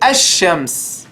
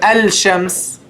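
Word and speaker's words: الشمس: say eligible you know you say a shams you don't say L shams AHA shadow don't say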